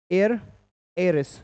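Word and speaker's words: heiress: joint joints विशाल महिला एयर एस क्या पढ़ेंगे इसको एयर क्या पढ़ेंगे एयर एच साइलेंट है यहां पर ना एयर एस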